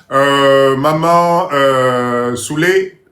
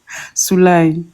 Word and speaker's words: Souley: Maman Souley, si j'ai peut-être mal prononcé. Maman Souley. Oui, bonsoir. Comment ça se prononce, maman? Soulaï.